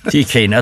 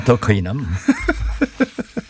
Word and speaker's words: 더 K: 더 K 손해보험인데 D라고 읽으셔가지고 예. 혼나거든요. 네. DK나 더 K나.